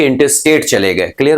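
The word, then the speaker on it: intestate: इन स्टेट कहने से ज्यादा बेहतर है, यहां पे टी को मैंने साइलेंट करके बोला, इंटरस्टेट। क्या बोलोगे?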